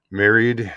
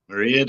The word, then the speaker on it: Mairead: Married? Is that who you're talking to? Is that how you pronounce it? Mairead, aye.